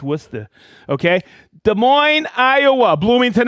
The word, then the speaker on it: Worcester: all see that that's how you say it's Worcester okay Des Moines Iowa Bloomington Illinois hey guess